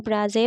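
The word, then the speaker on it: blasé: इसको ब्राज़े प्रोनाउंस करते हैं।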